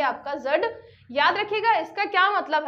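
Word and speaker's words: dzud: रखिएगा फिर मंगोलिया में जड आपातकाल किससे संबंधित है ये आपका जो डी है ये आपका साइलेंट है जड और कहीं-कहीं पे जड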